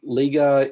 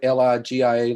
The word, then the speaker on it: Ligia: The next citizen is Miss, ma'am, I hope I pronounced it correctly, Liga, L-I-G-I-A, Liga, if I'm pronouncing that right.